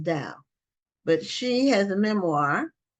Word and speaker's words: Dao: I think her last name is pronounced Dow, but she has a